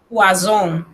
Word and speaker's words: poison: Por ejemplo, lo tenemos en pantalla, poison. Aquí se pronuncia una Z bien sonora, significa veneno.